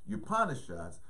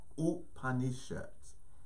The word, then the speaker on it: Upanishads: an Indian friend that I used to work with her name is Donna and I would asked her and you know the correct pronunciation of some of these Sanskrit words and she said is ooh honey shots so this is a